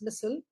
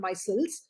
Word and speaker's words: micelles: cells are right here the the thing that you're calling as missile i i'm just using a slightly different way of pronunciation it's called micelles micelles are a single